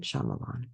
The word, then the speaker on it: Shyamalan: Pretty sure that's how you say it, Shaymalan.